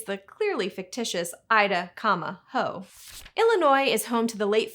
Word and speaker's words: Illinois: To French ears, Illinois sounded like Illinois, and that pronunciation is what stuck.